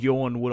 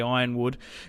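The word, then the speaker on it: Yronwood: and wood down here not Yorn wood I say iron wood cuz there's a a gate and a door that's the Sigil of the house it's iron wood also red wine down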